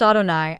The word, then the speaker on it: Adonai: From time immemorial, the Jewish canons decreed that the incommunicable name is to be pronounced Adonai as if it were written 𝘼𝙆𝙏𝙄 instead of 𝑌HWH.